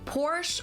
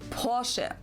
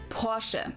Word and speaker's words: Porsche: I've heard Americans pronounce it Porsche or Porsche. In German we say Porsche. So there's like this short a sound in the end. Porsche.